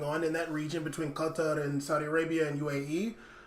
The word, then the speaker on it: Qatar: I'm going to put you on the spot on that pronunciation. Qatar.